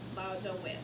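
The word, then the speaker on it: laudavit: Lauda wit. Remember the V is pronounced like a W.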